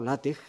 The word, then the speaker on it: LaTeX: Pero en principio, que efectivamente, retomando la manera como ha empezado Elena, efectivamente LaTeX nace, o LaTeX, la pronunciación correcta, nace en los años 70, a